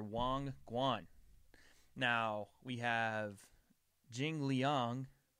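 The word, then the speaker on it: Li Jingliang: Guan now we have Jing Liang or in in my pronunciation when I first saw the name jingling hashtag no racist but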